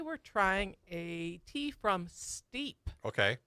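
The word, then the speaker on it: STEAP: see how it's spelled, it's S.TEA.P. So it's got T in the middle. Wow. Steep.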